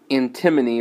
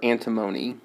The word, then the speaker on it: antimony: This time, why don't we pick antimony or antimony? I've heard it pronounced both ways.